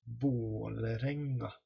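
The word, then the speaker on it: Vålerenga: So it isn't pronounced like an A, and it isn't pronounced like an O either. It's pronounced somewhere in between an A and an O. So then it becomes an O. Like claw or O or jaw.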